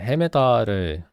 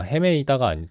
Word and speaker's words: 헤매다: 잠깐만, 헤매다를 우리가 어떻게 발음하는 게 맞더라? 예, 헤매다가 맞아요. 헤매다. 헤매이다가 아니라 헤매다. 헤맨 게 맞습니다.